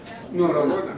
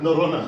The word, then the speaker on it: Norröna: Norröna. Norröna.